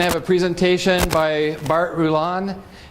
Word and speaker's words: Rulon: We're going to have a presentation by Bart Rulon. Pronounced right?